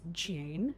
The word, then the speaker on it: dune: Dune can be pronounced as June.